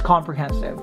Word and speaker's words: comprehensive: A lot of people pronounce this as comprehensive, which is good. But if you want it to sound better, you drop your jaw here, you say comprehensive.